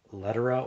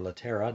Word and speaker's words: Lettera: got this very desirable olivetti lettera or latera depending on how you want to pronounce that letter of 33 and